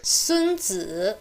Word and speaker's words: 孙子: To get a sense of the sound, take 孙子 pronounced as a 1-3 combination. 孙子 Said this way, it's the name of the Chinese philosopher famous for writing The Art of War.